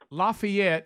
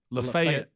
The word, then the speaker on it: Lafayette: want that first yeah go ahead Lafayette if you're in Louisiana Lafayette if you're in Alabama well I just heard